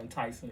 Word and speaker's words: Ntyxing: Okay, clothing line, like this, it's called Enticing. It's spelled Ntyxing. It's phonetic.